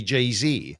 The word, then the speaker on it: Jay-Z: You'd say Jay-Z.